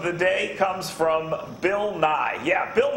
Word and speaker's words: Nye: day comes from Bill Nye yeah he'll not you know Bill Nye the Science Guy who is essentially famous because his name rhymes with the science guys he's not a scientist